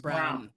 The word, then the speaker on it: Braun: It's Brown. Spelled like Braun, but it's pronounced Brown.